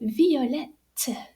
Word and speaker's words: violette: La fleur est violette. So the spelling is V-I-O-L-E-T-T-E. And we pronounce those two T's.